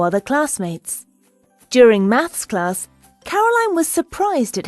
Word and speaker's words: Caroline: My name is Caroline, not Caroline. You're saying it wrong.